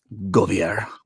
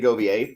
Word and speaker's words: Govier: Jeremy Govier. Yeah, that's it. Y um some people say goier, but they're wrong.